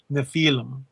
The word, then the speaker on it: Nephilim: Hey, L.A., is it Nephilim or Nephilim? Well, there's a bunch of different pronunciations. Yeah. My mentor, Dr. I.D. Thomas, would pronounce it Nephilim.